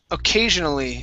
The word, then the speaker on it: occasionally: And the last one here is occasionally. Instead of O and really pronouncing that O, okay, it's occasionally.